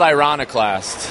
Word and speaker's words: Ironiclast: Now, tell me the meaning behind the title of the album, and please pronounce it for me correctly, someone. It's called Ironiclast, and it was the name of a song,